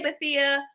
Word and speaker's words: Bethea: My last name has more than one pronunciation. That's a crazy story. So you did. I say Bethea. Most people who spell it this way say Bethea.